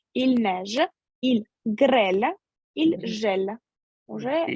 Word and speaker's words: gèle: Ага, только Ж перед Ю читается как? Жель. Il gèle.